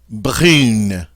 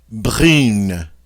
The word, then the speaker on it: brune: But once we add that E, the UN loses its nasality and becomes pronounced just regular. And so with the E, we pronounce it brune.